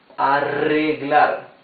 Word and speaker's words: arreglar: Now, when the R is doubled in the middle of a word, it's the same rough sound as the R at the beginning of the word. So this would be arreglar.